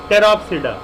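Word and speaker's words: Pteropsida: उसके बाद है टेरोप्सिडा, P silent again, टेरोप्सिडा का एग्जाम्पल कौन सा है, टेरिस।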